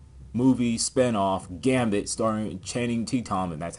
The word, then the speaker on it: Tatum: Now, speaking of movies, X-Men movie spinoff Gambit, starring Channing Tatum, and that's how you pronounce his last name, is set for release October 7th next year.